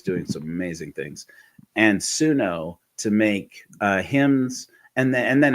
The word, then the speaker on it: Suno: No, this is actually Suno.